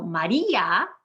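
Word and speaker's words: María: make it strong so maria maria three syllables we've made the i strong with an accent mark carney said yeah that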